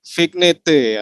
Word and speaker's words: vignette: Vignette ya. Vignette apa vignette? Vignette, Baik, doodle. karikat, vignette. Ya, vignette dan doodle. Bahasa Prancis itu, Pak.